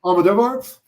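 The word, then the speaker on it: Almodóvar: How do you pronounce his last name? Pedro, the filmmaker. The filmmaker? Pedro Almodovar?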